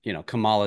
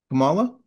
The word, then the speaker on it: Kamala: And Kamala is that, am I saying it right? I can't even. Kamala? Yeah. Kamala, okay, Yeah.